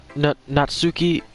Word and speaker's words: Natsuki: For disrespecting Natsuki?